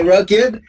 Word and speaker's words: rugged: A, B, C are exceptions in English. You have to say rugged, crooked, and wicked.